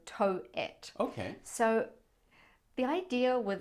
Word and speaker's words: Towit: here in Toronto called tow it yeah like how do you spell that t-o-w-i-t so toe it okay so the idea